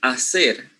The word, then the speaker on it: hacer: However, they are, changing the silent H, which is supposed to be in general regular Spanish pronunciation, for a J, right?